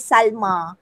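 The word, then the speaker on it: سلمى: yang menyerupai ada contohnya masa nama Salwa Salma ejaannya Hazel Joe tapi kita baca Salmi Hai Salma Salwa muda itu Nabi Musa Musa mimosin Joe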